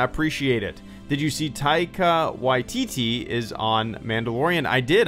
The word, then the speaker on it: Taika Waititi: Taika Waititi. Taika Waititi? Is that right, or is this one of those fake pronunciation things? Let me play that again. Taika Waititi.